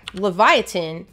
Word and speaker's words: Livyatan: ton of comments like, you're pronouncing Livyatan wrong. So yeah, Livyatan is in reference to the mythical sea monster Leviathan. It's just the Hebrew spelling.